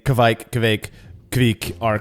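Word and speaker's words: kveik: pulpit to say it, it has two syllables. It doesn't have one syllable. It's not quike. It's kvike.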